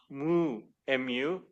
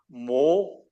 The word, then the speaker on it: Namu: And now they've changed it to Na Mo Mo Ami Dabutsu, or both are acceptable. Although that second character in the Japanese pronunciation, you can't pronounce that second character as Mo. It's Mu, Mu.